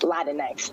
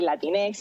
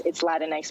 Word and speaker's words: Latinx: It's honestly, pronounce it however you want. That's the beauty of language. It's Latinx, though. You can say Latinx if it sounds better, but it's Latinx.